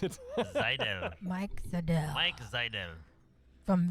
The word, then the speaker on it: Seidel: Seidel? Mike Seidel is Seidel. the very Seidel. Oh, it's like a Z Seidel, almost. the very Seidel. German way to pronounce it. Seidel.